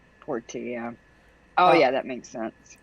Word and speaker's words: Portia: Porsche spider, but it's spelled more like Portia. Portia.